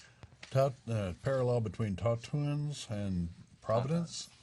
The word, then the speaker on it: tauntaun: Parallel between Tauntauns and Providence. Tautons. I think that's how it's pronounced. That's right.